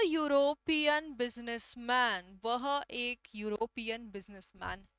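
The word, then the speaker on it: European: The pronunciation is य, जो कि है consonant. He इज अ यूरोपियन businessman.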